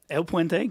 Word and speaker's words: El Puente: Yeah, El Puente, great pronunciation.